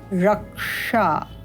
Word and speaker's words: रक्षा: हमारा प्रयोग हुआ है क्ष रक्षा तो यहां पर भी क और इससे पूर्व र रक्षा इस प्रकार उच्चारण करना है एक और उदाहरण ले